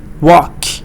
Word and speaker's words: walk: L is silent. Talk. Walk. Talk. Walk.